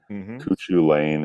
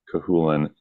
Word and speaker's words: Cuchulain: cahin is spelled c it's spelled exactly like it doesn't sound uh we actually had